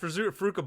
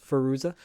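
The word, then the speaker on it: Fairuza: It's like even you've got Faruka Balka. Jesus Christ! Even how do you pronounce her name? Fuck. Faruza.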